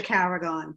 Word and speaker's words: Carragon: It's Carragon. People always mispronounce my name.